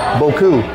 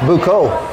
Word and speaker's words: buko: So don't comment that I said Boku. It's Buko, and I know.